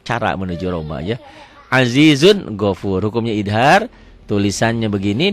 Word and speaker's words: ghafur: Nih yang saya katakan, tolong dirubah nih, gafurnya jadi ghafur. Jadi saya mau yang saya ajarkan tulisan Arab dengan bunyi Latin harus sama. Karena kalau gini kita nggak bisa menyalahkan pemula. Bu baca bu. Azizun gapur. Pak tulisannya gapur tuh ya. Padahal gofur.